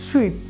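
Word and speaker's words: suite: দাঁড়াচ্ছে কি এটসেট্রা পরে রয়েছে দেখুন সুইট এই উচ্চারণটি হবে সুইট একেবারে ঠিক সুইট মিষ্টির মতো সুইট মানে হচ্ছে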